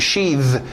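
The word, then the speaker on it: sheathe: Ok, aí você cria o verbo to sheath, mudando aquele TH de sheath, de sapo, para um TH de zorba. To sheath.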